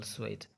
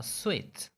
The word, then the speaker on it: suite: about a hotel suite many of us say suit please book a suit for us but we are wrong here we are wrong we pronounce it wrongly we have to say book a sweet okay as you can see we have so then vo then e then it makes sweet so next time when